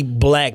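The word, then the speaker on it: 6lack: It's supposed to be Black, but he's from Zone 6, so that's why the 6 is there. But Talib calls him Six Lack, and now I can't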